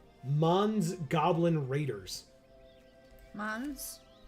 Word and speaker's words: Mons: Mons? Yes. Spelled the same way as Mon. Yes. Pokemon. M-O-N.